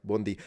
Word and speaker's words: buondì: or I could say buondì, and it means the same thing. Actually, this time she pronounced it right, buondì. You know, the stress at the end, I noticed, is a